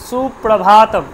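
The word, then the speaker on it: সুপ্রভাতম্: তাহলে সুপ্রভাতম না কিন্তু সুপ্রভাতম, প্রা, সুপ্রা, সুপ্রা, পরিষ্কার সুপ্রা হলো। এবার ভাতম, ভাতম, ভাটা কিন্তু দীর্ঘ, আর রয়েছে আমার ভাতম, ভাতম, তাহলে সুপ্রভাতম, ভাটা কিন্তু দীর্ঘ, বোঝা গেল?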